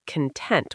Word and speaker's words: content: For the emotion, it's content with stress on the second part.